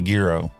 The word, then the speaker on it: gyro: it and it had gyro or Gyro depending on how you pronounce it if you want to be Greek you got to call it a Giro oh you know that